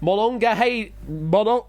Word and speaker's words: Monongahela: And we're going to Monongahela. Monongahela. Monongahela. Monongahela. Hashtag make Ash say things. Yes, indeed. Thank you, Pop. Monongahela. Oh, healer. Okay. Healer, not Haler. Okay.